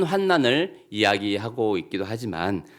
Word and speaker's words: 환난: 아주 혼돈의 상태를 의미하는 것이고, 여기서 이제 환난, 니은자로 환난이라고 하는 것은 이 환이 근심 환자 어려울 난자를 이렇게 씁니다.